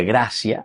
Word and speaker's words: gratia: En latín graia se pronuncia gracia.